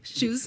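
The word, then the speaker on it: Chus: He owns Blue Chews, it's spelled C-H-U-S, shoes, Blue Chews.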